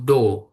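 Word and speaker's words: 動: Kanji yang ini itu dibacanya bukan teng ya, tapi dibacanya itu do seperti itu.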